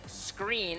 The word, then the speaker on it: Sqreen: company is coming up the company is screen spelled with a Q and presenting for screen